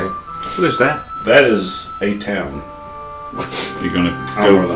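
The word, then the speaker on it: Atuan: That is a town. You're gonna go, the name. Go get your sword back. I'm going to. It's like it's spelled A Town, A T U A N.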